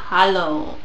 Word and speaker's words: Hallow: auch enthüllt, dass die Staffel die Gray Man Hallo ausgesprochen wird, aber Halo, also H-A-L-L-O-W geschrieben wird.